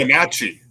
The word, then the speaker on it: Wenatchee: I can't pronounce it. Wenatchee.